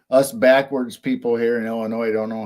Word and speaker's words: Illinois: I still think us backwards people here in Illinois don't know how to pronounce UK names well we say Illinois when it's Illinois no it's not Illinois it's